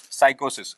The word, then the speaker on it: psychosis: Actually, the word is psychosis. Here P is silent, and obviously it somehow it shows something that which is related to a kind of serious issue.